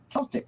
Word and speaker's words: Celtic: So, when we were just backstage for a moment, I said to Sheila, is it Celtic Sheila or is it Celtic Sheila? And it is Celtic Sheila.